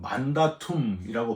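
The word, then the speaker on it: mandatum: 계명이 라틴어로는 만다툼이라고 발음을 하는데요. 바로이 만다툼이 영어 마운디가 되는 거예요.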